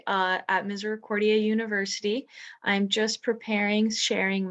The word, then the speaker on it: Misericordia: of us before they say how do you pronounce that and so misericordia it's literally mercy or it's latin for mercy